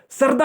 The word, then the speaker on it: शारदा: सरदा river जो है ना, सरदा रिवर को हम शरदा रिवर भी बोलते हैं, इसको हम प्रोनाउंस करते हैं शरदा रिवर, ठीक है।